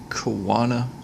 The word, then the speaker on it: choana: The proper pronunciation is choana singular or choani plural for these nasal passageways.